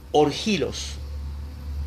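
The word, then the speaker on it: ὀργίλος: La palabra iracundo en el griego, quiero que lo anote, es orgilos. Orgilos, se escribe O-R-G-I-L-O-S.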